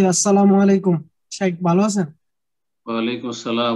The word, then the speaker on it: আসসালামু আলাইকুম: একটু আরো একটা কোশ্চেন ছিল সালাম দেওয়া শুদ্ধ উচ্চারণ আসসালাম আলাইকুম এটা হচ্ছে সালাম 10 আসসালামু আলাইকুম ওয়ারাহমাতুল্লাহ 20